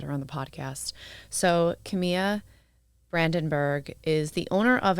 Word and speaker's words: Camai: Just to start, because everyone always asks me how to pronounce my name. Yeah. It's Camai.